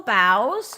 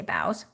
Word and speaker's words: boughs: purple alright so beautiful boughs or bows however you want to pronounce it i say bows budding blooms butterfly beauty